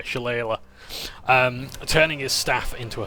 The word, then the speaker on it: Shillelagh: I was like, Shillelagh? Shillelagh? Shillelagh? I don't know, yeah, Shillelagh. I just pronounce it the Yorkshire way, Shillelagh.